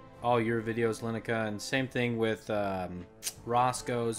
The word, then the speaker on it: Llennoca: Oh, yeah, everybody pronounces it Lineka. Sorry, Lenoka. It's supposed to be Lineka. Supposed to be Lineka.